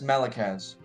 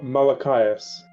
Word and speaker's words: Malachias: Okay, I'm gonna guess Malakaz. No. Damn it! Malashayas. No. It's Malachias.